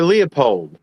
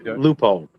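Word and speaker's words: Leupold: Philadelphia and I went, I actually asked Loophold, "Is it Looold or Liupold?" And they said, "Well, you could say it either way you want. We don't care." But the gentleman who owns the company, it's Looold.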